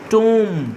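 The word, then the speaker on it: womb: আমরা ইংলিশে যখন এম এর পরে বি লিখি তখন বি এর সাউন্ড হয় না, এম পর্যন্ত সাউন্ড হয়, এটা নিয়ম একটা প্রোনাউন্সিয়েশনে। তাহলে এখানে বলবো না, আমরা এরকম উচ্চারণ করবো, আর এটা টুম্ব বলবো না, টুম এরকম সাউন্ড করব।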